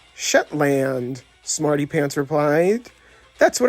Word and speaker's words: Shetland: So we meet again, Agent Sheetland, Jessie said as she began dancing with Smarty. It's pronounced Shetland, Smarty Pants replied.